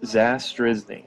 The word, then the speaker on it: Zastryzny: so I completely understand it's zas drizzling so Rob disaster is